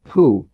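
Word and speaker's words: 呼: Hu, pronounced like hu, which is associated with the spleen.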